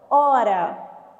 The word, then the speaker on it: hora: essa palavra aqui ó hora E lembra que desde o ensino fundamental uma professora fala que o h é mudo que largar não tem som então quantas letras eu